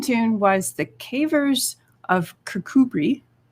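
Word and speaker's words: Kirkcudbright: was the cavers of kirkubri which looks like kirk cudbright when you spell it out but it's kakubri it's in scotland this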